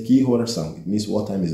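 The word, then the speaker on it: Que horas são: Ki horas são?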